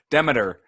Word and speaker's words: Demeter: It is Demeter. Everybody gets it wrong, though, so it's all good. Demeter. Yes. Okay. Like the Greek god, except I think the Greek god might be pronounced differently, so maybe I'm lying to you.